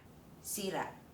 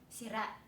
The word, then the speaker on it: sírà: Okay, the second one is break (sírà) broken (sirà) One is sírà; one is sirà Do you see?